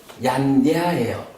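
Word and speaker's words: yañña: 인도적인 풍습으로는, 얀냐라는 거, 요 발음이 얀냐예요. 우리 빤냐라는 말이 있죠. 빤냐. 요 빤냐에서 요 피만 Y로 바뀐 거죠. 요거, 그러니까 요만큼이 안냐라고 읽어진 거예요. 피가 붙어서 빤냐. 요거 Y로 대체되니까 얌냐 이렇게 읽어요.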